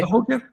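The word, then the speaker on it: Cahokia: Cahoquia, eh, Cajoquía o no sé cómo se pronuncia. Cahoquia, sí.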